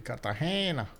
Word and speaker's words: Cartagena: Actually, Cartagena. Pronounced with an I.